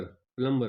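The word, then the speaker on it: plumber: Find the silent letter in प्लमबर। प्लंबर पढ़ा जाता है। बी साइलेंट होता है।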